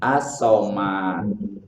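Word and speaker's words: الصمد: As-somad. Jadi membacanya as-somad ya. Coba Muid dibaca as-somad kayak gimana? As-somad. Betul. Da-nya itu terakhirnya harus mantul.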